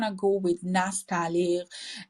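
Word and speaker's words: Nastaliq: and the forms they used so it's called nastal I'm going to pronounce it one more time can you visually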